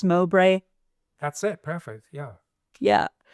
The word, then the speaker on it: Mowbray: Is it pronounced Mowbray?